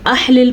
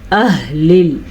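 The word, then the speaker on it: أهل: الکتاب، من اہل الکتاب۔ ہاں کے تلفظ کا دھیان رکھنا ہے، یہ والا ہا حلق کا آخری حصہ یعنی کہ سینے سے نکلتا ہے۔ اگر اس کو آپ نے احلل پڑھا یا اخلل پڑھا تو آپ نے ایک بڑی غلطی کر دی۔ ہم نے اس کو کیا پڑھنا ہے؟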